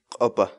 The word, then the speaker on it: q'upa: uma série vídeos onde nós ensinamos você a pronunciar determinadas palavras em Quechua portanto a nossa palavra do dia para hoje é a copa a copa a copa fala em português a